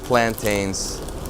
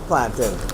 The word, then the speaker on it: plantain: quintessential Caribbean snack food plantains these are salty nons salt no salt we pronounce it plantin plantin we don't say plantain it's plantin I love the guy